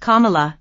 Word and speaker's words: Kamala: Harris wrote M why name is pronounced Kamala like the punctuation mark it means lotus flower